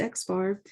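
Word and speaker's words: x̄: a little bar above it and this is pronounced x bar and this is computed using the sample data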